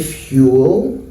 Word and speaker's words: fuel: one uh syllable yes so this is in one syllable Fuel and this is in two syllables fuel this is in two